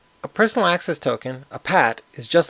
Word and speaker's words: PAT: I'll pronounce the acronym PAT as PAT.